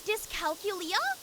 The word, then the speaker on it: dyscalculia: It's dyscalculia? Oh, there's another I. Well, there you go. I'm dyslexic. How do you say that? Dyscalculia. I think it probably is dyscalculia. Yeah. Wow, I totally missed the I.